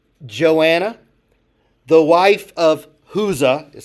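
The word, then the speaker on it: Chuza: Joanna, the wife of Huza is how that's pronounced.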